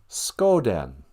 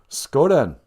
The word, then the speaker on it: Skoden: Skoden. Or let us go then. Minnesotans love to put a then at the end of a sentence. Skoden. And we also can't pronounce our THs. A lot of people just say den.